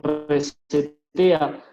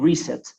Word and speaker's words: reset: y juega otra acción, ahí hablaríamos de reset también, nunca de reset. Siempre la sílaba tónica va en la primera parte.